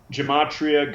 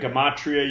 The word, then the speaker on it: gematria: new to this subject gematria gematria you can pronounce it either way ge ma T RIAA it's an ancient practice